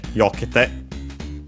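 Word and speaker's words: 避けて: And by the way, in this case, as the accent of the te form is on the third to last syllable, it moves, and so it's on the yo instead of the ke, yokete, yokete.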